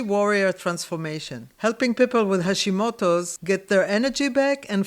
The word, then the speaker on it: Hashimoto's: So, I know you're a dietician, but you specifically work with people with Hish Hosimoto. Yes. Am I pronouncing it? Hashimoto's.